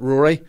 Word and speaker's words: Ruairi: name you know a basic English name but Rory Rory yeah spelled Rory but it's really exactly and I mean phonetically that's easy to confuse and then there's